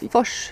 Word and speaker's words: Fors: that was actually Julia Foss, if anyone saw it. Yes. Why do I say her name in English? Fors. Julia Fors, yes.